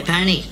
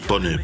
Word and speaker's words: Pone: Hey, Pony, the coach said to run it straight, Uso. My name's pronounced Pone, but okay, Tanga.